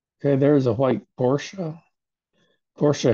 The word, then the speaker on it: Porsche: Porsche has two syllables.